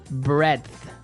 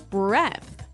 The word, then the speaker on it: breadth: Breadth. Breadth. So it's kind of like saying bread, but adding a TH at the end.